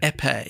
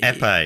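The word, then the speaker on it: épée: Epee. Epee, because it's always in crosswords, but I've never heard anyone say there you go.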